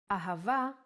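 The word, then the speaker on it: אהבה: it in both ways when hay appears in the end of the word it will always sound as ah ahava is love in Hebrew let's try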